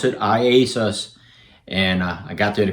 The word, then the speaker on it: IASUS: and yet is iasis and that's how you pronounce it iasus and I got there the correct pronunciation I